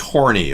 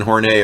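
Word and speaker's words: Horney: according to Catherine kornei it was not pronounced horny okay her name was Catherine horn hey everybody made a joke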